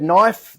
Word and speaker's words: knife: says in the word knife the K is silent uh as it says